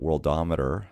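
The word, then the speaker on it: Worldometer: if we look at the world ometer as its correctly pronounced we can see here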